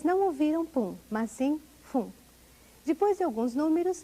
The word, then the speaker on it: 分: Em Hatiji Jilgofumai, vocês não ouviram pum, mas sim fum. Depois de alguns números, a pronúncia correta para a palavra minuto é fum.